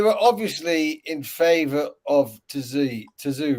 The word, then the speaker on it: Tszyu: I tell you where the promoters and the corner, they were obviously in favor of Tszyu, right? Because Zoo. It's a silent T. It's Tszyu. The T is silent.